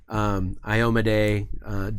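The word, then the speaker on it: Iomedae: At that point, I will tell whoever's making this, like, it's pronounced Kyra, it's pronounced Iomade, it's pronounced Yonda-Bakari.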